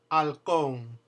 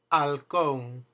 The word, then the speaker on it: halcón: In that case, you don't pronounce the H ever. First word, halcón, halcón.